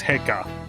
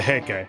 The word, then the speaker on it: Heike: Oh god, how do you pronounce that again? Heike? I don't think it's Heika. As described in the tale of the Heike, it was a time when all that was great would fall from grace.